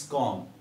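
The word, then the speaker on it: comb: जैसे मैं बात कर रहा हूं यहां पे सी ओ एम बी, है ना, this is नॉट कॉम, this is कॉम, यानी बी को आप साइलेंट पढ़ेंगे क्योंकि एम के बाद आया है।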